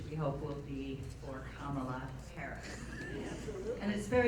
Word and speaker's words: Kamala: And then, for those who don't know how to pronounce Kamala's name, we worked on, half of the room says Kamala, and the other half says Kamala, Kamala, Kamala.